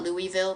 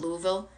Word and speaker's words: Louisville: Good morning, Lauren from Louisville. Louisville. Is that how you say it? Not Louisville, but Louisville. Kind of like Lancaster, PA, Lancaster.